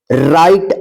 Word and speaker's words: right: तो इसमें क्या रहेगा कि एक देखिए यहां पे RIGHT, इसको क्या पढ़ा जाएगा, इसको पढ़ा जाएगा राइट।